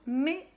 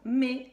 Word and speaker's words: mai: Il s'écrit avec 3 lettres, le M, le A et le I. Parce que le A et le I, ça fait le son A.